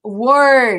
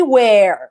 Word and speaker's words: were: was they were and be careful here with the pronunciation okay they were not they where where is like where